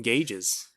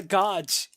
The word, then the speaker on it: gauge: I I just call them gauges. I love you, Ray. What's wrong with God? It's not a godge. It's a gauge.